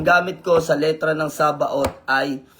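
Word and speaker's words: Sabaoth: No, tatandaan natin saba ot. Medyo yung pronunciation ninyo is OT. Yung pinakadulo. So ito po ay ikalimang pangalan ng prosperity name of God.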